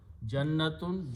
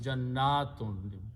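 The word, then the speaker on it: جنات: Again, be careful pronunciation. Jannatun, Jannatun. You have to stretch.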